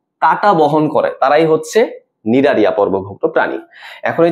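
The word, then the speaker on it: Cnidaria: আচ্ছা, নিডারিয়া তুমি যদি নামটা দেখো, নামটা কিন্তু সি দিয়ে শুরু হয়, হ্যাঁ উচ্চারণের মধ্যে কিন্তু সি নাই, বাট নামটা শুরু হয় তোমার সি দিয়ে।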